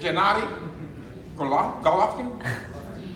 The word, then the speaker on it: Gennady Golovkin: Gennady Golovkin?